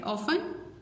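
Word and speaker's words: often: इन दोनों में T silent है, ऑफन, लिसन।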